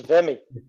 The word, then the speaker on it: VEMI: uh you know now the argument is more about how you say it and uh it's vemmi yeah i agree so